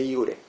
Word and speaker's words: iure: De iure. De iure. Una diferencia de iure, la J en latín se pronuncia como I, ¿sí?